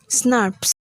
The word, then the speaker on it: snRNP: These RNA protein complexes are called small nuclear ribonuclear proteins or snRNPs, pronounced as SNRPs.